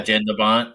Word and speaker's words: Jan de Bont: Like Jan de Bont, is that how it's pronounced? Yeah, de Bont. Yeah, Jan de Bont.